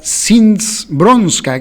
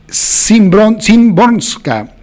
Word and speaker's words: Szymborska: a la poeta Wisława Szymborska, que es un nombre muy raro y complicado de pronunciar, porque cuando lo vean tiene una S y una Z, ¿no? Y una Y, Szymborska, el libro Paisaje con grano de arena.